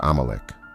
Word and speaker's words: Amalek: In Hebrew, the name is pronounced Amalecch.